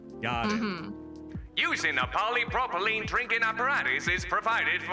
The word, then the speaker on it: polypropylene: with this uh the sentence how do you pronounce it again polypropylene polypropylene got it using a polypropylene drinking apparatus is provided for us to use